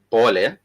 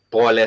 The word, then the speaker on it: pole: that, we also do have words such as pole. If you have wronged someone and you want to apologize, you would say pole, and you also, if you want to emphasize, you would simply say pole sana, which is P-O-L-E, pole, which is sorry.